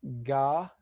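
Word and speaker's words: גמל: So number 6, to pronounce the word camel in Hebrew, we would say gamal.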